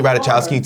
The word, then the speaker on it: Ratajkowski: That was the equivalent to Emily Ratajkowski telling you that she loves you.